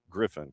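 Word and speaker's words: Gryphon: Canada, up at GE as a as a Griffin. I knew that one. And it's Griffin like not not like the city south of here. Not G R I F F O N but G Griffin.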